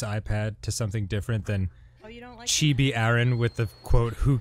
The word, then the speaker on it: chibi: Ramsey King is it chippy and not chibi she chibi is actually the proper pronunciation oh right okay so